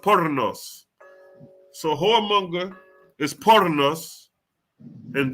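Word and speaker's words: πόρνος: It's pronounced pornos.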